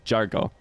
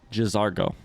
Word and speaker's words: Jazargo: He says Jazargo. I just say Jargo, which I don't think is right. I think he just said Jazargo. Like fully two distinct letters there.